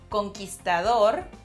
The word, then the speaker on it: conquistador: Conquistador. Conquistador. Well, in English you say like conquistador.